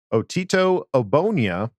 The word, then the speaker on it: Otito: saw us pick up otito i wanted to make sure i pronounced that correctly the g is silent just like they call